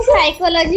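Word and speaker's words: psychology: नहीं सर, ऐसा साइकोलॉजी होता है, उसमें पी साइलेंट रहता है स्टार्टिंग। साइकोलॉजी में पी साइलेंट है।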